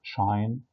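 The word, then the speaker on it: sinh: احنا هنا في مصر اتعلمناها الهايبربوليك ساين بننطقها شاين، والهايبربوليك كوساين بننطقها كوشاين، والهايبربوليك تان بننطقها تانش، فبننطق شاين كوشاين تانش، والتريجونومتريك بنقول ساين كوساين تان.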